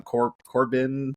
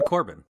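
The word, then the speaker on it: Corbijn: It's like Anton Corbin. It's Baron Corbin. This is just like Corbin, yeah. Okay. I think it's the same as Baron Corbin.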